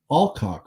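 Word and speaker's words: Alcock: l c CK I I can't imagine it's not pronounced any other way than alock right like there's no that's not what there that's what it is anyway she played the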